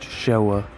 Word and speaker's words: Showa: Anyways, to continue on what he was saying, it's pronounced Showa.